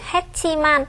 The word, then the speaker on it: 했지만: 한글로 쓸 때는 했지만입니다. 하지만 발음할 때는 했지만 이렇게 발음을 해야 되겠습니다. Ở trong phần đoạn nội thoại này có từ 했지만 nhưng khi phát âm chúng ta sẽ được phát âm là 했지만.